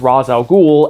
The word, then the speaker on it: Ra's al Ghul: DC is trying to get us to not pronounce Razz al Ghul as Razz al Ghul, because macrons tend to